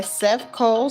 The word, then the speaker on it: Sefchol: This is Orient by Seth Cole. Seth Cole is spelled Sefchol from the YouTube audio library, copyright free, royalty free, and all of that wonderful stuff.